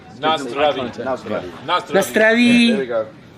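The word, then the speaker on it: na zdraví: Nazdravi. Yeah, man. I've been spending a lot of time in Moravia. Nazdravi. Nazdravi. I got nothing Emphasis is always on the first syllable. Nazdravi.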